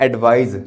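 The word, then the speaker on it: advise: सा से सा एडवाइस इसको बोलते हैं एडवाइज ज से राइट अब देखि होता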